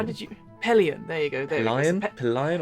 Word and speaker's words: Pelion: third one yes so I believe uh uh pen lion I believe is called or uh how did you Pelion there you go there lion or pillion it's